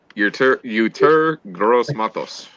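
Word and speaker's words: Yetur Gross-Matos: Uter Gross Matos.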